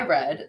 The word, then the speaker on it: read: If you're spelling red, it's exactly the same way that you spell read. R-E-A-D. Read. Red.